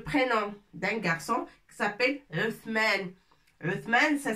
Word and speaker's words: عثمان: On va écrire le prénom d'un garçon qui s'appelle Uthman. Uthman, ça s'écrit avec tha.